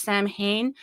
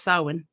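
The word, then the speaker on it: Samhain: you look at it it looks like it's pronounced Sam Hayne but the actual Celtic uh pronunciation is Sinn correct correct old an old one old old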